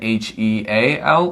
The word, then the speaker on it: heal: h-e-e-l and h-e-a-l and you say both of those words the same way heel h-e-l talking about the bottom part of your foot and heel h-e-a-l meaning helping someone recover from an injury um they're both pronounced the same way heal and heal so that one's easier